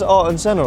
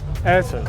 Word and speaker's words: Ayrton: It says Art and Senna on it. Art and Senna. Art and Senna. Oh no, cut that out. How do you say it? Ayrton.